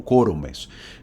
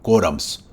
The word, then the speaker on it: quórumes: lo hay, esos son quórumes, así se pronuncia, ¿verdad? Quórum es cuando es singular y cuando es plural se dice quórumes, no quórums. No existe esa palabra, existe quórumes.